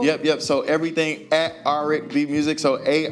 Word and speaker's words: Aric B: yep so everything at r b music so a r i c b music it rhymes with R&B so if you forget